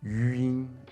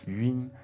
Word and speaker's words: yun: Now the best way to make this sound like a native speaker is to imagine that it's spelt slightly differently. Imagine that it's spelt Y-U-E-E-N, yun, yun. You don't have to do the E so strongly, nor do you have to smile or anything like that, but that slight tweak to it, having a